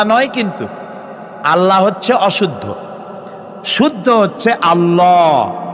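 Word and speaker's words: الله: কি গুণাবলীতে বিশ্বাস আল্লাহর নাম আল্লাহ বলেন তো আল্লাহ নয় কিন্তু আল্লাহ হচ্ছে অশুদ্ধ শুদ্ধ হচ্ছে আল্লাহ বলার সময় মুখটা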